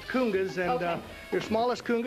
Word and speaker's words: congas: here explain to me these are congas these are pronounced kungas and uh your smallest